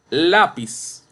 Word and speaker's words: lápiz: Lápiz. Lápiz. No lápiz. Lápiz. Penúltima sílaba. Grave o llana.